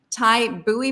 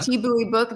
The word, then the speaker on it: Thi Bui: Christy writes, I see a Thai Bui book. Is that how you say it? T-Boy. Oh, I'm sorry. Thi yeah. Thi book.